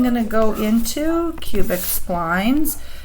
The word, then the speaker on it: splines: Next I'm going to go into cubic splines. Do not call them spleens. Apparently some people call them cubic spleens, but spleens are organs of the body. These are splines. It rhymes with lines.